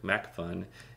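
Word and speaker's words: MacPhun: Okay, so I click MacFun, Intensify Pro. MacFun is spelled with a P-H-U-N. That means it's just kind of quirky and fun, and I'm talking P-H-U-N.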